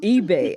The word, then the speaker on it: Eby: My guest today is Deborah Mitchell Eby, and I hope I'm saying that part of your name right, Deborah. I know I can mess up some names. But Deborah. It's Eby. Eby.